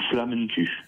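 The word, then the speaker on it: Flammekueche: Alors, il existe Flammekuche ou Flammekuche ou Flammenkuche. Ça dépend après des régions. En Allemagne, il y a une prononciation différente.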